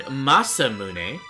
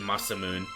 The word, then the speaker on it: Masamune: Yeah, I pronounce it Masamune.